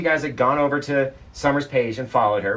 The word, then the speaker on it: Sommer: have gone over to Summer's page and followed her right over here on Tick Tock summer s-o-m-m-e-r exactly how it sounds it's how it's spelled you'll find her on